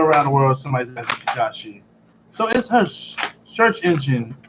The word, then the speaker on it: Tekashi: So, but tell me about Tekashi. Hey, Regina. I finally think you pronounce right.